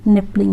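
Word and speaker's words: Knipling: ये जो कंसेप्ट है वो किसने दिया था, that was given by E.F. निपलिंग। यहाँ पे के साइलेंट होता है।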